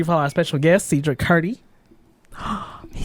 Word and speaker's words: Sedra Kurdi: Make sure you follow our special guest, Sedra Kurdi. He said it At right. Sedra Kurdi.